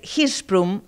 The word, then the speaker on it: Hirschsprung: Es difícil de pronunciar, es hirprum, así eh se dice.